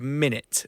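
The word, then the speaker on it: Minit: a brand new game it's a game called minute that actually came out last year it's spelled m i n i t so minutes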